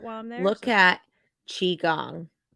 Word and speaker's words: Qigong: I'm there look at Qigong Qigong yes it's spelled Q I gong okay uh it's kind